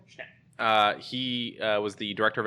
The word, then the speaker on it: Schnepp: It was John Schnepp, I think is how you say his name. Schnepp.